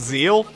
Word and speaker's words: Zexal: Wait, it's pronounced zeal? Seriously? Alright, today we're looking at Yugioh Zeal.